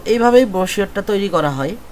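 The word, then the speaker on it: brochure: আচ্ছা যাই হোক, আজকের টপিকটা হচ্ছে ব্রোশিওর ডিজাইন, ঠিক আছে, বানান যেটাই হোক, উচ্চারণ ব্রোশিওর।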